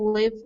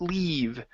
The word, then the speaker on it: leave: believe the Penguins couldn't live the zoo and the erector couldn't live this away okay okay let's get a little bit deeper e sound here so couldn't leave couldn't leave the subway couldn't leave the